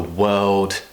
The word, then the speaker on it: world: with pronouncing this word it's because we're going from the Earth sound which people already find difficult into a dark L sound this L that we just talked about whoa and then of